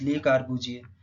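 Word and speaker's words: Le Corbusier: The pronunciation of this term is ली कार्बुजिए।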